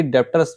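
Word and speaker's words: debtors: के अंतर्गत रखते हैं जबकि डेटर्स में बी साइलेंट होता है 20 आयलेट होने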